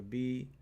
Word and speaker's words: Beyt: That's the way they spell it on this Bible, but it's actually BEYT, BEYT. But BEYT is okay here.